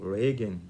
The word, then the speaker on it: Georgescu-Roegen: que tem méritos extraordinários nicolas georgescu-roegen ou reggae dependendo da pronúncia ele não compreende isso